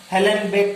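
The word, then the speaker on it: Uhlenbeck: उन्होंने दिया था UNH ना, UHLEN है ना, हेलन बेक करके है ये, इसमें यू आपका साइलेंट है, हेलन बेक करके कोई है।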